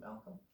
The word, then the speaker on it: Malcolm: Just like the name Abraham Lincoln's last name, there's a silent L in Lincoln, and there's a silent L hiding in your name too, Malcolm.